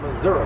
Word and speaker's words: Missouri: And it's Missouri, by the way, not Missouri, Missouri. Correct pronunciation.